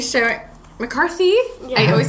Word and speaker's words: McCarthy: now Megan I will um I'm loving Melissa McCartney show McCarthy I always say her name wrong showing up on SNL as uh Sean